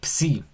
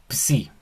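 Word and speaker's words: ψ: Y después tenemos otra que también podemos relacionar, porque mira, esta que parece un tenedor Ujú, se lee psi, psi.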